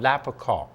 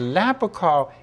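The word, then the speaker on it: lapachol: poy alal has an active ingredient that's called lapr and I'm going to spell that for you it's l a p a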